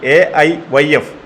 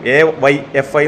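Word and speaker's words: AIYF: ഒന്ന് ആദ്യം അദ്ദേഹത്തോട് പറയാനുള്ളത് എഐ വൈഎഫ് all India youth federation എന്ന് ഉച്ചാരണം നേരെ പഠിക്കാൻ പറയണം എവൈ എഫ്ഐ എന്നോ എന്തൊക്കെയാണ് അദ്ദേഹം പറയുന്നത് മനസ്സിലാകുന്നില്ല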